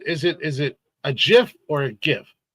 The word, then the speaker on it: GIF: places in the world some places in the world a g is pronounced like a j so I I mean